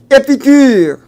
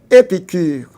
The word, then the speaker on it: Épicure: Évidemment, cette école de philosophie a pour chef de de file Épicure. Épicure, E accent aigu, P I C U R E.